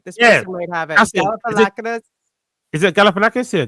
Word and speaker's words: Galifianakis: Galifianakis. Is it Galifianakis? Yeah, Galifianakis.